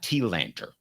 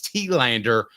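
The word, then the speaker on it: Telander: ask a question uh it's tanter so I have a bad habit of mispronouncing that name so you're welcome to call me out at any point it's Tander and I love unsweet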